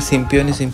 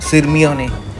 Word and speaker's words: Sirmione: सो पहले जितना भी मैंने सिम्पियोने बोला है, एक्चुअल उसका प्रोनाउंसिएशन है सिरमियोने.